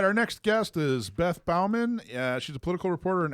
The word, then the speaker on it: Baumann: How do you pronounce your last name, Beth? You actually did it. You actually said it right. Yes. Baumann.